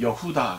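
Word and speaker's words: יהודה: 드림 유다를 나왔습니다 그쵸 이것은 이제 히브리 발음을 하면 여 후다 가 되겠죠 아 그런데 아이 이름의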